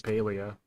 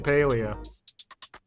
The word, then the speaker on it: Palia: And they pronounce it Paleia. So, it's freaking Paleia.